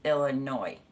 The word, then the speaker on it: Illinois: No S on it, so it's just Illinois.